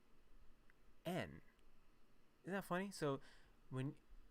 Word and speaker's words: 円: It's interesting because in English we call it yen, but in Japanese it's actually just en.